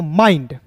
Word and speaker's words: mind: देखिए आई के बाद दोस्तों यहाँ पे ND आया तो M का म और आई का उच्चारण आई के रूप में करेंगे, यहाँ पे आई के रूप में करेंगे, और डी का दोस्तों यहाँ पे ड होता है। MIND क्या हो जाएगा दोस्तों माइंड।